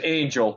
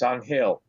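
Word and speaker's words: Ángel: la Cruz everybody says angel but you know he's he's Dominican so he you know he's a spanish-speaking man and the Spanish pronunciation of angel is on Hale that's what everybody calls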